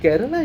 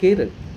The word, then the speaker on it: Kerala: I found out that I've been pronouncing Kerala incorrectly. I know we call it Kerala and it's all over the place, but it's supposed to be Kerala.